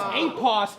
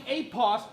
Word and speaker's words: Apos: like Johnny Cage but it's apos the mighty apos two syllables old